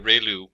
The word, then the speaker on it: ReLU: we have the ReLU, it's pronounced like ray, the ray from the sun, and lu, like a name, so ReLU function.